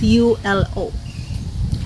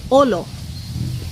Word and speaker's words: ulo: So for example, ulo, that's pronounced as U-L-O. We don't say ulo. No, We just say olo, olo.